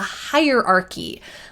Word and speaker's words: hierarchy: This picture, this is just a good illustration of a hierarchy. Listen to the pronunciation of this word higher, like up high, hierarchy, has kh sound even though there's a ch, don't be fooled a hierarchy.